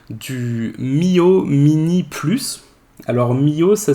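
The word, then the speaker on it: Miyoo: Alors Mio, ça s'écrit M-I-Y-O-O, si quelqu'un a envie de le chercher.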